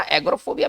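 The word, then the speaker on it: Agyiophobia: थोड़ा स्पेलिंग इसका अलग है, AGY। चलिए एग्रोफोबिया है ये। चलिए इसका उच्चारण थोड़ा सा अलग होगा, एग्रोफोबिया में इसको पढ़ेंगे। इसमें भय किससे होगा?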